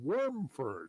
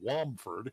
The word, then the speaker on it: Wormford: So the townmaster renamed the town Wormford for the dragon that was defeated in the hills south of town long ago. But to his regret, some of the locals mispronounced it as Womford, and that stuck, and it's been Womford ever since.